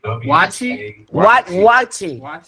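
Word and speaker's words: waakye: to mispronounce it so I'm going to just spell it w a a k y e key say it again W A A watchi watchi let W talk he's he's a he's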